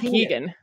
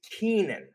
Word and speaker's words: Keenan: curious i remember it no that's just mispronounced it's kenan it might be canadian but it's not keegan sorry it's keenan that's right hold on